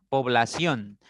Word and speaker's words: población: una aguda con tilde población es una palabra de tres sílabas es una palabra que termina en N y la mayor fuerza está en la primera sílaba por lo tanto debe llevar tilde población interés interés es